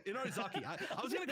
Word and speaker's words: Inarizaki: Well, how do you pronounce the name? I'm blanking. Inarizaki. Inarizaki. I was going to call it Inarizami.